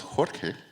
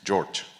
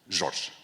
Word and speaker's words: Jorge: name is not Jorge, my name is Jorge, or in Portuguese, Jorge. So if you want to spell it right, Jorge is in Spanish, right? But Jorge is okay, it's in English. But if you try harder, it's Jorge, which is kind of weird.